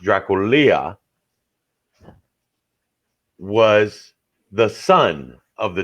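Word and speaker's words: Drăculea: dragon yep vlad dracula it's actually pronounced in romanian it's actually pronounced draculia was the son of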